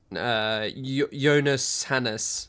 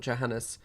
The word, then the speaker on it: Johannes: Jonas Hannes, not Johannes.